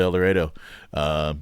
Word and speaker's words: El Dorado: We are in El Dorado, Kansas, and I promise you that's how we actually pronounce it there. I was gonna ask. Yeah. No, El Dorado is about 10 IQ points higher, but we tend to call it El Dorado. It is what it is.